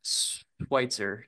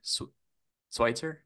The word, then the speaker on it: Sweitzer: joined by Mr Chad schwitzer swier swier okay dudee I underlined it I'm like I gotta pronounce the E and the I it's not Switzer like I thought it was but we're good we're